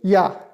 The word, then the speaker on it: Ja: भी शुरू होते हैं वो आप वाई से प्रोनाउंस करेंगे, या, जे ए या, सिंपली।